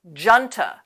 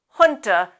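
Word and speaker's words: junta: from other languages hun comes to English from the Spanish language you can see the meaning here sometimes you'll hear native speakers pronounce that as janta but they're wrong we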